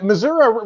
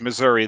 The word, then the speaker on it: Missouri: Yeah, well, actually, Missouri really, it's only folks up north that really pronounce that A. I am in southwest Missouri. Okay, so it is Missouri there, and so you're